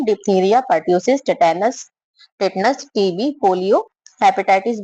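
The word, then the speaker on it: tetanus: तीसरा है हमारा टिटेनस, टिटनस, इसमें ए साइलेंट होता है।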